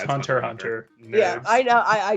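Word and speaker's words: Hunter × Hunter: Yeah, I say Hunter x Hunter, but yeah, it's Hunter Hunter. Yeah, Nerds. I know, I do it both. It I'm like is in my this head. whole time. Yeah, it's Hunter Hunter.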